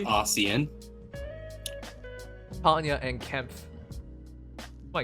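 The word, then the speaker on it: Osian: Ossian, Ocean, man. Ocean man. Yeah. The worst part is we didn't even do that together, but we both know. It's pronounced Ossian.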